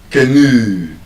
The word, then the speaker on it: canoe: Ah, I can't have you buy So, but that is the correct pronunciation. canoe canoe There's a long ooh sound at the end.